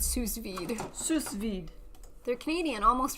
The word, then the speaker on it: sous vide: Like sous as an under in yes. French. Yeah. Sous Well, that's where it comes from.